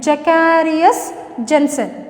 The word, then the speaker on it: Zacharias Janssen: Pronunciation you look at, I will repeat again, Zacharias Janssen.